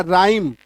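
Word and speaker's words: rhyme: र ह ई म क्योंकि ह लेकिन क्योंकि आर के बाद एच है तो एच को आपको काटना है। अब पढ़ना है। है ना? राइम आई बात समझ में?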